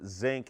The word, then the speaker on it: sink: He actually was referring to a sink because that is how Baltimore people actually pronounce the word sink, like they're talking about something on the periodic table.